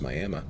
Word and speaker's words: Miami: in oklahoma it's uh it's i-m-i-a-m-i you would think that's miami but no it's miami miami miami oklahoma well strangely enough they're